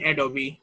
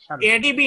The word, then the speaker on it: Adobe: Certificate from দিয়ে দেন অ্যাডোবি। ডি ছোট হাতের দেন। কত দিব? এডিবি না না স্যার, অ্যাডোবি, অ্যাডোবি, ADOBE।